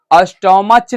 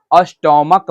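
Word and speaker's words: stomach: एसटी ओ ए सी स्टमच नहीं पढ़ते हैं स्टमक पढ़ते हैं बताइए स्टमक पढ़ते हैं ना अब बताओ यहां पर उच्चारण क हो रहा है कि नहीं देख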